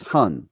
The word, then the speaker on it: Hun: very insightful okay so one of the spirits is Hun right that's how it's said hun okay yeah H yeah now